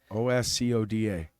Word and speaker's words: Oscoda: Oscoda, that's how you say it. Yep. Oscoda.